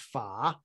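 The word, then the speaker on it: 法: character pha so there's a chinese character that's pronounced fa that is the character for dharma but they would often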